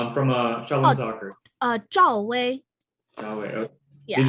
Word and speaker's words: Zhao Wei: Zhao Wei.